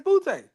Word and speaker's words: Booty: because the people I've known with the same last name says Butte.